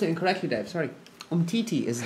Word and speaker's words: Umtiti: If we signed Imuti, who's playing for France now, right?